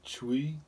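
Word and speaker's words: chui: sound for the kidneys sound is chewy like c-h-u-i okay this one put the feet together you wrap your hands around your knees and you make the sound chewy like c-h-u-i chuwi so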